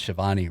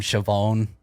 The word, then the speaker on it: Shivani: Yeah, he couldn't pronounce Shivani right. He called him Chavone.